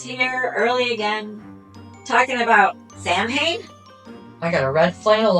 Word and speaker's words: Samhain: That's why people say it that way, but It's actually pronounced Samhain. It's Irish Gaelic for summer's end, pronounced Samhain.